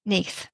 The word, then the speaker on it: Nudd: interested in which was the book about GW NE we've just had a discussion about the pronunciation of this because it's spelled nudd yeah